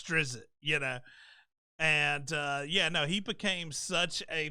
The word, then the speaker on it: Drizzt: You'll see them spell it differently, but it's Drizzt, And he became such a popular character that it just got put in everything.